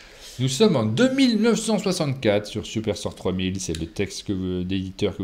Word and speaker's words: Superstore 3000: Il faut savoir qu'en fait, ça se prononce Superstore 3000, et c'est super important.